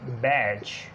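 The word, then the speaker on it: badge: जैसे आ जाता है डी है बैज, इसी तरह एज और हेज और इसी तरह वेज।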